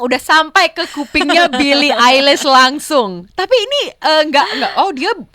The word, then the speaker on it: Eilish: fans lokal, terutama karena nama dia tuh adalah Eilish, tapi kan tulisannya adalah EILIS. Elis tulisannya tuh Elis gitu. Kalau di Indonesia kan bacanya Elis, tapi kan Eilish sebenarnya ya.